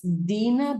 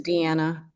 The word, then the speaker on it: Diana: Uh is that Dina, Diana? Uh I don't know if I'm pronouncing your name right. It's It's Diana. Diana.